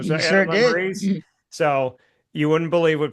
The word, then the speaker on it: Lemerise: So with that being said, I have Adam Lemerise here on the show.